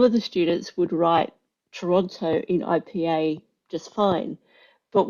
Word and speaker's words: Toronto: But what we didn't realize was that there's another pronunciation of Toronto, Trono. They call it Trono, which is a different set of IPA symbols because it's a different pronunciation. And so we're marking this exam, and people would have Toronto, and then they'd have Trono, and we're like, actually, we have to mark this as correct because that is actually how they pronounce Toronto, Trono.